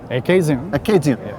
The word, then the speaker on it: Acadian: and it's called an what I would pronounce Acadian but you say aian well they were made